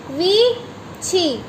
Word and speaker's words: 위치: हाउ to pronounce वीची, वीची।